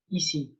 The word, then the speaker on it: ici: And this dog is speaking and saying, easy to be here. And this is ici, to say here, okay?